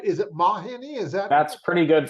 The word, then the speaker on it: Mawhinney: podcast and today I am here with Mark Mahoney didn't mark did I just pronounce that right is it mahini is that that's pretty good for a first run through yeah it's close enough my Winnie technically I always say it's like mod and